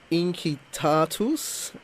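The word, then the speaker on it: Incitatus: Your band, and I apologise if I pronounce this wrong, it's named after Inkitatus. Nicely done with the hard C. I like that.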